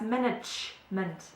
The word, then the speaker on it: Management: managing okay uh yeah so we actually say that's management okay so we really stress the G in the German pronunciation does management does marketing